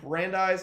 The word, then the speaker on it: Brandeis: Also, Coach is learning coaches down at San Antonio Brandeis. Is that how you pronounce Yep. it? Yep. Brandeis High School.